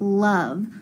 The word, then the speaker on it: love: This is a sight word and the sight word of love. When we sound out love, listen, la, it almost sounds like a U.